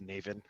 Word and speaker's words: Navan: Is that actually how that's pronounced? I thought it was Navan. Don't tell them that I said that. Like a navel orange.